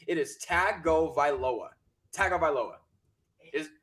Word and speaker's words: Tagovailoa: and sportscasters out there who are pronouncing his name Tunga Vailoa, there is no N in his name. His name is Tagovailoa. There is no Tagovailoa. Stop saying Tunga Vailoa.